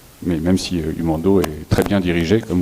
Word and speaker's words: Humando: Comment ça s'écrit, Humando, H-U-M-A-N-D-O.